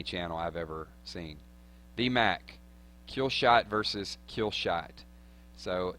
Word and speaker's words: Kilzhot: to go through was spell it K-I-L-Z-H-O-T, Kilzhot, you know, kind of like Russian.